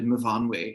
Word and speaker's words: Myfanwy: And then some Welsh people are like, it's actually Myfanwy.